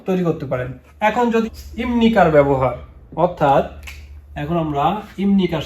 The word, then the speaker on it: 입니까: ইমনিকা, ইমনিকা, দেখুন এখানে ইপনিকা, ইপনিকা এটা কিন্তু উচ্চারণ হবে না। পাশ্চিম বিউপির পরে নিউন আসলে, অর্থাৎ বিউপ পাশ্চিমের পরে নিউন আসলে এখানে আপনার এই বিউপটা মিউমের মতো উচ্চারণ হবে, ওই বিউপটা মিউম উচ্চারণ হবে।